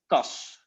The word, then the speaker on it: kas: Kas. Yeah, great. Kas. So it's very short.